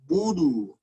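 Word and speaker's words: نَعْبُدُ: Nah, kesalahan pengucapan domah, bunyi u kurang sempurna karena bibir kurang manyun. Jadi antara u dan e. Contoh. Iyyaka na'budu. Budu. Bukan budu, tapi budu. Sempurna bu, sempurna juga du. Bu, du.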